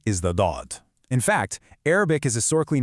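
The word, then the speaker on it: ض: But to actually pronounce dod correctly, you've got to press the sides of your tongue firmly against your upper molars to produce this deep, trapped, full sound.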